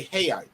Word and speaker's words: real: Portuguese up man yep the r sound like H's that's right that's like they money that's real it's literally spelled like real r-e-a-l real they say hey that makes no sense to me but hey it is what it is it's a Portuguese thing I guess to support